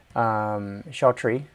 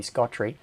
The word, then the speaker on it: Scotry: I'm still maintaining the relationship with Shotri, or which is how I mispronounce it. It's meant to be Scotry, which is the company